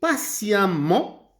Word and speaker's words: patiemment: Je répondrai aimablement et patiemment à leurs demandes. Attention, j'écris E et je prononce A.